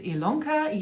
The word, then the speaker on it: Ilanka: to stitchy lanka my name is ilanka yes it's spelt with an i but pronounced with an e and this is my